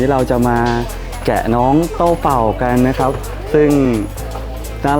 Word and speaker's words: Doubao: นะ น้อง ชิเกน นะ นี่ น้อง โต้ เป่า นะ นี่ ออก เสียง เป็น ภาษา จีน ว่า โต้ เป่า นะ เพื่อน ๆ น่า